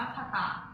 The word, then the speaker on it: 方: และ เติม คาตะ ค่ะ ชั้น สี ตัว นี้ นะ คะ อ่าน ว่า คตะ ใช้ ประสม กับ กริยา